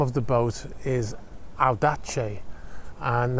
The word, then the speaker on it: Audace: The name of the boat is Audace, and that V is actually pronounced like a U.